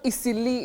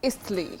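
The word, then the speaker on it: Eastleigh: way to pronounce so it's not eily it's eastly and not Don it's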